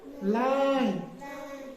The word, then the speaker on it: line: फिर साइलेंट ई में हमने प्लान, PLANE, प्लान। LINE, क्या बन गया? लाइन। हाँ, शाबाश। FINE क्या बन गया? फाइन।